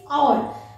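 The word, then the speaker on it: hour: एन आवर, because the real pronunciation is आवर, means H इज a silent.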